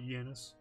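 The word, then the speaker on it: Xenia: yenice to show up that's how they pronounced it in the movie so I'm going to call it yenis good evening 007 no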